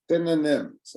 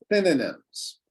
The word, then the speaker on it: synonyms: also difficult to pronounce synonyms everybody say it with me synonyms synonyms synonyms synonyms it sounds like we're cooking adding cinnamon but it's different synonyms synonyms exactly so a